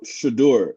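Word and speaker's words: Shedeur: How do you pronounce his name? Shador? Shador.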